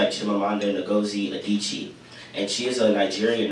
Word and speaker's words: Chimamanda Ngozi Adichie: And and I came across this one stereotype TED Talk by a woman named Chimamanda, her name's hard to pronounce, but it's Chimamanda Ngozi Adichie.